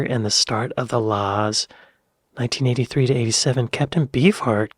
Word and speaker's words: La's: I got to say when I first saw the name the laws I pronounced it the LA's just cuz I don't know La Centric Mike Badger